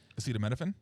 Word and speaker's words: acetaminophen: Acetaminophen? Yeah, that's how you pronounce Tylenol.